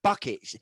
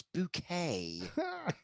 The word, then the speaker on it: Bucket: It's spelt bucket. It's not bucket. It's bouquet.